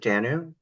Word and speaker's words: Dannu: Is it Dannu? Okay, Yes. make sure I was pronouncing that correctly.